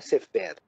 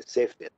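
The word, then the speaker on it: ספר: A palavra sefer quer dizer livro, então não é sefer, é sefer, né?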